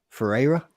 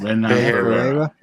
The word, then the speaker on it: Ferreira: Ferreira. Is that how you pronounce it? Ferreira.